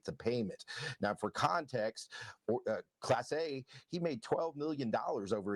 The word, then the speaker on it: Clase: But the indictment alleges that, and I'm sorry that I said it wrong. I said Clase, it's Clase.